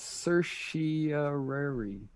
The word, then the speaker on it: certiorari: It's certiorari.